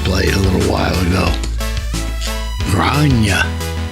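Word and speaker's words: Gráinne: Grania. God, that's hard, strange to say, because when you spell it, it's G-R-A accent I-double-N-E.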